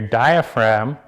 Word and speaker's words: diaphragm: But notice how your lower belly and your diaphragm, I think is the proper pronunciation, doesn't harden forward. You have to pronounce the G.